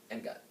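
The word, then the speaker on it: Angad: I'm always confused on how to pronounce that. Engad.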